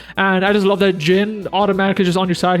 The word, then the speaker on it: Zin: Fun fact, I just realized in this game that it's pronounced Jin. I used to call him Zin, Z-I-N, because that's how it's spelled.